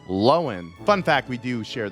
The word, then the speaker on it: Lohan: lohan in shock we've all been pronouncing her name wrong all these years apparently it's not lohan it's lowen fun fact we do share the same birthday